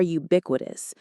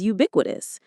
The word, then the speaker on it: ubiquitous: The internet is ubiquitous. It's hard to imagine a place without it. Let's pronounce it. Ubiquitous. Ubiquitous. The stress is on that bick syllable.